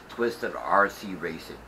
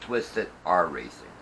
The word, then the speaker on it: Twisted R Racing: Okay, my mistake, it's not Twisted RC Racing, it's Twisted R Racing.